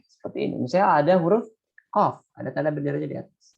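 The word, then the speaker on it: ق: Misalnya ada huruf qaf, ada tanda benderanya di atas. Maka dibacanya qaf. 6 harokat. Qaf. Qaf. Jadi bukan ko, tapi qaf.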